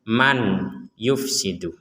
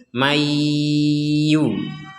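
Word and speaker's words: من يفسد: tidak membaca dengan jelas kalau ini dibaca jelas maka kita akan membacanya man yufsidu man yufsidu man yufsidu man Yu nah itu jelas maka sekarang kita bacanya nun sukun ini dimasukkan ke ya jadi nun sukun dimasukkan ke ya maka dibacanya Mayu sekali lagi plus dengung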